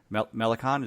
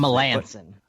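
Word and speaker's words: Melancon: Melicon? Is that how I always forget how you pronounce it? Melanson. Melanson. Oh, jeez, I wasn't even close.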